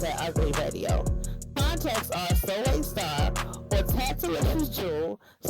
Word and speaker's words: Soleil: Also, contact for Soulstar Entertainment is Soleil, pronounced Soleil Star, and Taisha Zevius.